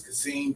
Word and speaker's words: Kasim: My Facebook is Kasim, K-A-S-I-M, Kas, K-A-S, last name, S-H-A-V-I-S.